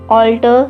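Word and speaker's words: altar: इस ऑल्टर के जैसा जो हमारा अगला वर्ड है that is ऑल्टर. Same pronunciation है, बस A का फ़र्क है.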